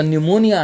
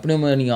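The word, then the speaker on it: pneumonia: silent है ठीक है जैसे निमोनिया है सो कई बरी बच्चे जड़े पी बोल देते हैं प निमोनिया और अ क्नो ओके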